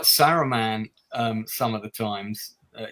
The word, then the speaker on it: Saruman: Also, why did they call Saruman Araman in this as well? There's a couple of times where they don't pronounce the S.